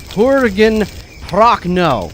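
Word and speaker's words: Jürgen Prochnow: Two big screw-ups on name pronunciations, and I'm really sorry. Jurgen Prochnow.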